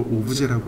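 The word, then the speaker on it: objet: 오브젝트를, 그러니까 물체를 미국식 발음으로 오브젝트라고 하고 프랑스식 발음으로 오브제라고 합니다.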